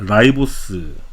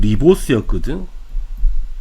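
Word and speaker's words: ribose: 이거 우리가 라이보스 당이라 그래. 라이보스. 자, 예전 이름 뭐였냐면 리보스였거든. 근데 실제 영어 발음은 라이보스인 거거든. 근데 학교쌤이 아무래도 옛날 이름 쓰겠죠. 리보스라고. 근데 실제 이름은 라이보스야. 영어 표현은 라이보스야.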